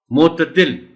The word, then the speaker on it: معتدل: حسن ہی کہنا چاہیے۔ معتدل، تے پر زبر ہے اور اس کو نمایاں کر کے پڑھا جانا چاہیے۔ معطر، تے پر شد